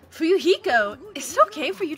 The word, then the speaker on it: Fuyuhiko: My first name is pronounced Fu-Yu-Hi-Ko. I'm still an inexperienced member of my family's business.